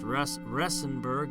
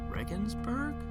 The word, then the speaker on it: Regensburg: this little index of cities alphabetical order I mispronounced rust resin burg again written no it Regensburg hold on our Ichi oh I'm sorry